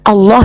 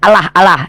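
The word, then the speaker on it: الله: Kalau kami Allah, lamnya tuh kalau ada sama tasydid itu ada 3 tuh. Allah ditafkim bacanya ditebalkan. Allah bukan Allah ya.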